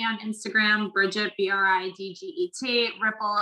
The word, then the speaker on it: Riepl: instagram bridgette bri dget ripple it's r-i-e-p-l but we pronounce it like a ripple in the water i am the founder